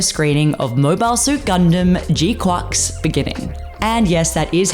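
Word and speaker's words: GQuuuuuX: the Premier Cinema screening of Mobile Suit Gundam G quack's beginning and yes that is how you pronounce it grateful for the title drop in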